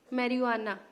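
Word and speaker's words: marijuana: Flowering top से मैरिजुआना, जे is silent.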